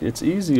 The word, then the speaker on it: Bonizio: He said, just pronounce my name like it's easy, It's easy.